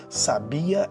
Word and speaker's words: sabia: Peguemos as palavras sábia, sabia e sabiá. Cada uma possui uma sílaba tônica distinta e com um significado próprio, completamente diferente das outras.